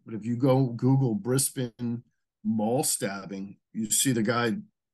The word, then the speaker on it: Brisbane: I'm a Kiwi, so you can butcher these names for Australians as much as you want, but it's Brisbane.